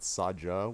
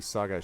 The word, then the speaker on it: saga: the word Saga and she pronounced it sja with it I was like I was like that' be Saga she's like why can't it be the other kind of G and so I started